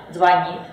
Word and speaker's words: звонит: дово Как вы заметили ударение в русском языке разноместное оно может падать как на первый слог например средства Может на второй например звонит Может на третий каталог может падать на четвёртый асимметрия и так далее это